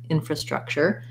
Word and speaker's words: infrastructure: syllable stress structure then when we add infra we just add an in and another schwa here for in for infrastructure first syllable stress with secondary stress on the struck infrastructure and then if we're